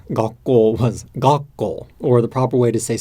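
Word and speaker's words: 学校: But what happened is, on the spot, my friend said, Dōgen, gakko じゃなくて gakko desu.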